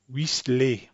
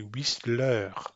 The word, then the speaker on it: Whistler: But they're going to pronounce this name since they know it's an English name. The French person is going to pronounce an English name like they think it should be pronounced in English. So they're going to say Whistler.